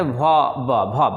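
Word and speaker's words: verb: ठीक है, यहाँ भी ध्यान देना है कि इसको वर्ब नहीं पढ़ना है। ठीक है, यानी हम लोग इसको इस तरह से नहीं पढ़ेंगे, वर्ब ऐसे नहीं पढ़ेंगे, हम लोग इसको आर को साइलेंट करके पढ़ेंगे, यानी किस तरह से वर्ब ऐसे।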